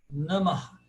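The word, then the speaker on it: नमः: E o Visarga, que é aquele ahá, como Namah.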